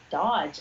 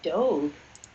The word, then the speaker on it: Doge: Oh, Moon Mystique says it's pronounced Dodge. I thought it was Doge. I thought it I've was always Doge, pronounced too. it Doge in my head, or Doge or something, but not Dodge.